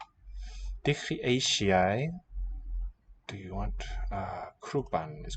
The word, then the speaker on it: eisiau: Dwi eisiau datws neu siocled. Dwi. So du, e, eisiau. Palatalization of the S to a sh.